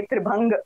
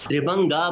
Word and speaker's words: त्रिभंग: और ये कितनी अच्छी बात है मैम, क्योंकि आपसे हमें पता चला, इससे पहले हम सब लोग इसको त्रिभंगा प्रोनाउंसिएट कर रहे थे, जबकि त्रिभंग है त्रिभंग।